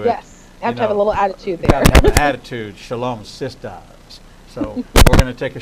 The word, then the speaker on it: Shalom Sistas: get it right and I got to get the emphasis on the last syllable because and you got to put a little shimmy and shake into it a little attitude attitude Shalom sisters so we're gonna take